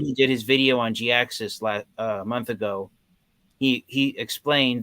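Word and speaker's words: Jhiaxus: G-Axis. Yeah, that's his name is pronounced G-Axis. The H is silent, and you pronounce the I.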